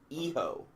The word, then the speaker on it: Hijo: Eho. El Hijo del LA Park. Eho. Eho? The H is silent and the J makes an H sound.